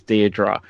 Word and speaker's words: Deirdre: which is Deirdre and you correct that it's Deirdre and then I didn't even check on your